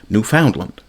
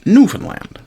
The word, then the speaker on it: Newfoundland: Hesen, a mill worker, pronouncing the word with the stress on the second syllable, Newf Foundland, rather than the first, Newfoundland.